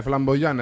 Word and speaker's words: Flambojan: Giustamente, immaginavo, insomma, Flamboyant, quindi direi che non potete sbagliare, Flamboyant è scritto così come lo pronunciamo, quindi con una I lunga o J invece che la I comunque, Flamboyant, quindi noi